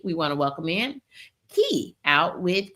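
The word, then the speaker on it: Kie: We want to welcome in Key out with key and it's key pronounced like the word ke y but spelled K I E.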